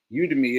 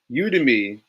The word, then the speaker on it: Udemy: Udemy. It's spelled the a Y EMI.